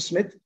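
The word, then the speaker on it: Psmith: called leave it to smith where the p is silent p smith leave it to smith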